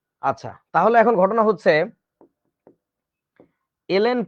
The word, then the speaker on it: ln: লন না, actually উচ্চারণটা কিন্তু ln।